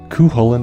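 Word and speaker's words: Cú Chulainn: Cu Chulainn is one of Shin Megami Tensei's most popular demons, and yes, that is how you pronounce it.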